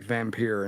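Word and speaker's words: Vampyr: you pronounce it um v-a-m-p-y-r is how the games here it's vampir get it right God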